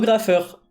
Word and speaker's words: Graffeur: suis renommé en Graffeur. Sauf que bah, Graffeur PH, G-R-A-P-H-E-R, c'était déjà pris. Et du coup, je me suis dit, bah, je vais juste mettre 2 F, ça fait la même prononciation, c'est cool.